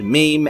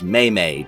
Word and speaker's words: meme: investigators I bet he pronounces the word meme as maymay doesn't it yes Reb